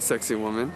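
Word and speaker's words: Sacsayhuamán: site called sexy woman sexy woman is not spelled like sexy woman as you'll see in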